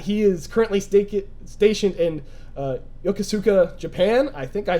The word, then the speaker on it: Yokosuka: It's called Yokosuka. It's hard to pronounce because there's a distinguishment between the K, the T and the K, because it's TSU, Su-ka, but it's pronounced quickly. So in the English, it sounds like Yokosuka, but it's Yokosuka. Yokosuka.